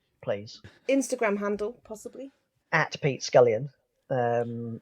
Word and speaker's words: Pete Scullion: Instagram handle possibly at Pete scallion um it's pretty straightforward um I did never went for one of these slightly strange um Instagram handles it's just my name sounds like it's spelled how many covers for